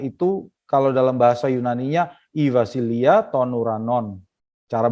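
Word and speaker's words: βασιλεία τῶν οὐρανῶν: Nah, dalam bahasa aslinya kerajaan surga itu kalau dalam bahasa Yunaninya Ivasilia tonuranon. Cara bacanya begitu ya. Ivasilia tonuranon.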